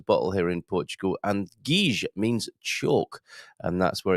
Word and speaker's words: Giz: It's actually pronounced Guige. It's quite an expensive wine, around 25 euros a bottle here in Portugal. And Guige means chalk, and that's where it got its name.